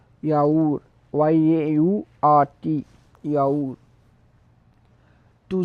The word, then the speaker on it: yaourt: To the yogurt we will say yaourt, yaourt, YAURT, yaourt.